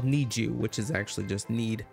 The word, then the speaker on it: NiziU: today i'm reacting to i'm pretty sure you pronounce it need you need you because it's like need you like need and you they're from jyp entertainment